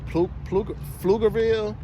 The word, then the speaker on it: Pflugerville: Had booked the load going to, it picked up in Nashville, and it was going to somewhere in Texas, like Pflugerville, like the P is silent, Texas.